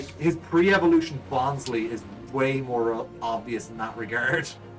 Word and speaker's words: Bonsly: his pre-evolution Bonsley is way more obvious in that regard. It really is. Yeah. Although I think it's supposed to be pronounced Bonsly, like it's supposed to be the word sly.